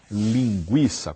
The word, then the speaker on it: linguiça: Vamos continuar com a palavra linguiça, com a pronúncia linguiça. A pronúncia não muda, muda a maneira de grafar.